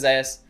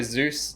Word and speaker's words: Zeus: well what i noticed with zaius especially like it's isaiah someone says zeus it's spelled the same way zeus the greek um mythological god i don't know we're just going to say yesterday because that's all the casters say what i noticed was